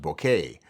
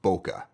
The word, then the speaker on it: bokeh: It's actually a Japanese word pronounced bokeh, but in many parts of the world it's pronounced bokeh.